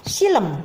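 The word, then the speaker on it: xilem: Sekarang di sini ada judul, ada contoh laporan praktikum jaringan silem. Itu bacanya silem ya.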